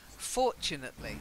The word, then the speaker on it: fortunately: stress was off its fortunately so the stress is on the first syllable fortunate yeah emotionally for